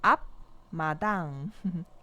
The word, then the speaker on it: 앞마당: É assim que vai ficar a pronúncia. E aqui tem 앞마당, 앞마당.